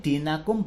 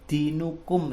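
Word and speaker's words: دِينَكُمْ: tidak boleh berdengung juga disini dinakum bukan dinukum ya diperhatikan anak-anak ya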